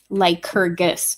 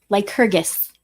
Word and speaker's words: Lycurgus: Lycurgus, so it's a hard G. Very well. Lycurgus.